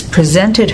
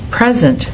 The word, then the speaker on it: present: did you notice that when the homograph is a noun the stress is on the first syllable record Rebel present when it's a verb the stress goes on the second syllable record Rebel present can